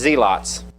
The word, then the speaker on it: zealots: One of them was what we would pronounce this word zealots, but it was pronounced zeelots.